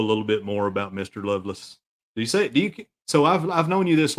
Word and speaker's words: Lovelace: My family pronounces it Lovelace. Yeah, just like you love and lace.